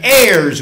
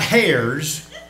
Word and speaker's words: heirs: We are brothers with Christ and heirs with him. I said that word right. That's not A-I-R-S, that's H-E-I-R-S. The H is silent. My mother used to get on to me about that. It's not hairs, as you can probably tell.